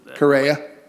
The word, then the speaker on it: Correia: And you don't pronounce it. Correia.